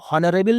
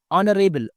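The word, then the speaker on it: honorable: बीरबल नरे बल सर यहां पर एज साइलेंट रहेगा इसको हॉनरेबल नहीं बोलेंगे नरेल ऑन ओ से प्रोनाउंस करेंगे नरेल सर आई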